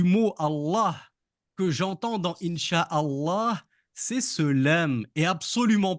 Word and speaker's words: inch Allah: bonne réponse bravo Noam le L et en l'occurrence le deuxème l le LEM qui porte une Chad parce que le l disparaît à l'oral je lis in et j'oublie pas de prolonger le la in Allah du coup puisque c'est